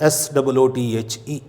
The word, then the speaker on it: soothe: लेकिन ये सिर्फ प्रोनाउंसिएशन के हवाले से मैंने कहा कि पढ़ना उसी तरह है जैसे बैंकों का सूद होता है। तो SOOTHE।